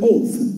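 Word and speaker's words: אות: in school signs it's the Hebrew word oath oath say oath say it loud oath that's not loud say it loud oh okay you spell it in Hebrew with the AL the V and the Tav so it would be the ol of the V and the Tav writing from right to left okay that's the way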